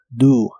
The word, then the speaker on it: do: La O de esta palabra se pronuncia como U, do.